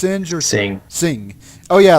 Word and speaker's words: Singh: named amar sin singh uh how does that pronounce sinjar singh singh oh yeah like noon and sing the amar